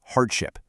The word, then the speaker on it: hardship: Our first word is hardship. Hardship. The American pronunciation stresses the first syllable, hard-ship.